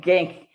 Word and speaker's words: Genk: I say the G. You're supposed to, it's sort of supposed to, yeah, I can't do it. But I say it with the hard G of more of the northern Netherlands.